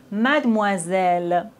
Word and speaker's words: mademoiselle: OI se prononce OA, mademoiselle.